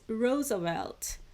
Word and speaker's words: Roosevelt: you pronounce that right I've checked the audio pronunciation for that name too it's Roosevelt so in 1939 Einstein and physicist Leo zelot